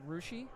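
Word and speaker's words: Russia: a small town called Delphos Ohio we have rushi Ohio r-u-s-s-i-a we have Versailles v-e-r-s-a-i-l-e-s uh you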